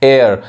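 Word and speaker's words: heir: यहाँ देखिए एयर, इसको हेयर लोग बोलते हैं, एयर।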